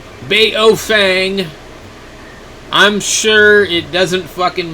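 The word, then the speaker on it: Baofeng: You know, I mean, nobody, even for a while, they were selling a radio that was said Pofung, because supposedly that's how it's supposed to be pronounced, is Pofung. Baofang.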